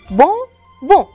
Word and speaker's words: bonbon: بهالطريقة لأنه كتير لذيذ بونبون أن بونبون سكروا تمكن منيح وما تلفظوا ابدا الان باخر الكلمه بونبون ابدا ما تلفظوا الان جاهزين للكلمه الثانيه لو